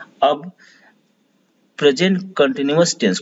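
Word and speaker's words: continuous: अब present कंटिन्यूअस tense को, कंटिन्यूअस का स्पेलिंग याद रखिए, CONTI न्यूअस, NUOUS न्यूअस, न्यूअस करके पढ़ेंगे तो आपको ध्यान रहेगा, लेकिन ये न्यूअस उच्चारण करते हैं इसका।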